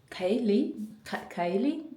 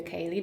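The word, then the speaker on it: ceilidh: Kaylee. I think this traditional Scottish dance is pronounced like this, and this is the fit I'm wearing.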